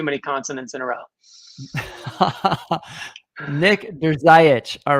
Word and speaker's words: Drzayich: I tell everybody to just say, "Does your eye itch?" and that'll about cover it. Okay. It's pronounced Drzayich.